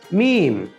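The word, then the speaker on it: م: লাম পরবর্তী হরফ হলো মিম মিম হরফ উচ্চারণের সময় আমাদের দুই ঠোঁট একসাথে লেগে যাবে মিম হরফ উচ্চারণের সময়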